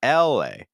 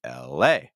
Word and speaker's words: LA: You want to make sure that you stress the A. So again, go higher in the pitch. Hold it longer. LA. So it's not LA. It's LA.